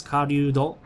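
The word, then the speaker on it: 狩人: Hunter in this case is karyudo, which is kind of hard for me to say because it's ryu, which is a sound that doesn't exist in English language.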